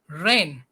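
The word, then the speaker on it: reign: is the mistake and another word is rain it's not correct pronunciation r e i g n we pronounce it rain another word year y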